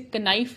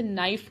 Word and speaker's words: knife: For example नाइफ, KNIFE, हम इसे कनाइफ नहीं कहते, हम इसे नाइफ कहते हैं।